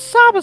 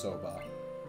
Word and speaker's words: soba: It was a Saba stall, I think. Yeah, it was. Yep. Just so you're aware, and I'm not criticizing you at all, that is pronounced soba.